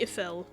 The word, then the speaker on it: Eiffel: Probably Ephel because and I'm pretty sure it's not pronounced Eiffel in actual French. We just say that in our American voice.